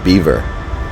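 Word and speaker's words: Belvoir: clearly pronounced belois and they pronounce it beaver which I think is ridiculous but that's what it is so you know if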